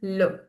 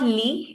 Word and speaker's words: le: the masculine noun is le. Everyone repeat with me. Le. No. It's not li, it's not le. Please pronounce it properly. Le. Le. Lo. I'm not saying lo, le.